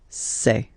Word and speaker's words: ces: then set here and for the plural say say really open this e e say Okay so let's see